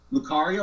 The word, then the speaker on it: Lucario: I was there for Renamon, and I'm curious to see how she's going to go up against Lucario. Is that how you pronounce it?